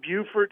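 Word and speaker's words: Beaufort: only plastic kazoo Factory it's in Buford South Carolina I think that's how they pronounce it e e a u f o r t South Carolina wow and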